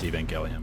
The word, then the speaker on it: Evangelion: and evangelion means gospel it's pronounced evangelion but let's go right